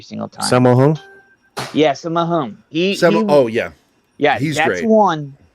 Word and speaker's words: Sammo Hung: Yeah, Sammo Hung.